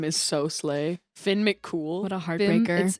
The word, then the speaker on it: Finn McCool: Finn McCool. What a Finn, heartbreaker. it's Finn McCool, and it's spelled like Coomhill, but like I've always heard it pronounced cool.